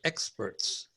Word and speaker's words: experts: India then I heard the word experts not experts the action is on the first syllable experts that is it thank